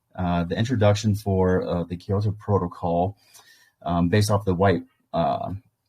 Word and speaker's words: Kyoto Protocol: Yeah, Kyoto Kyoto Protocol.